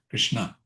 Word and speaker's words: Krishna: The dot under the S says that the S is pronounced as sha sh.